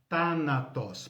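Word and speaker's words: θάνατος: grupo é thanatos e thanatos pode escrever assim mesmo como se fala em grego é th né Tá na pós esse mais ou menos como th do inglês né Tá na tosse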